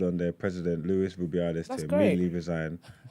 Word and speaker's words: Rubiales: Rubiales. Rubiales.